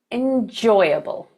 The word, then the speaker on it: enjoyable: And last of all, we have our one and only four-syllable word where the stress is on the second syllable. That word is enjoyable.